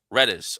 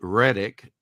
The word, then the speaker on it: Redis: Redis. Redes. Redis. There you go. We're all set. I did. And people will be mispronouncing it Reddick.